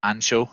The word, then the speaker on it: ancho: the chilies you use ideally would be dried ancho is that how you pronounce it yeah yeah or pablano chilies okay